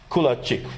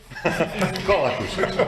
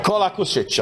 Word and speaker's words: Kolakušić: And another colleague from Croatia, Kulačić, right? Do I pronounce it correct? Right now, not. Kolakušić. Kolakušić, I know it's tough with all these names.